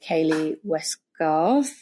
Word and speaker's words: Kayleigh Westgarth: Tales From to be laundry I'm here with Kaylee westcar see I said it right welcome to the